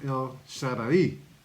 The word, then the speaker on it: El Shaddai: Okay, I did mispronounce that. It was El Shaddai.